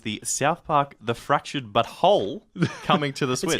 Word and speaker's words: But Whole: Park game, the Fractured But Whole. He's like, I'm sorry, what? I had to spell it out for him. It's just like, it's the butt, Butwhole.